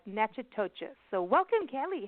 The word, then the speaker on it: Natchitoches: So it's like Natchitoches.